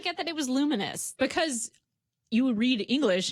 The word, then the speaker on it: Lumines: I discovered I don't know how to say this game properly. Luminous, which I've been saying is Lumines for like 10 years.